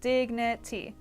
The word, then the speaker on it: dignity: no one cares dignity so if you pronounce that dignity dig is pretty heavily hit right so that's been stressed Nick is not important tea is our last one so it'll be stressed so two households both